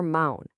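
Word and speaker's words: mão: When you have to say known or no, when you're asking for help and you point with your mound, your hand.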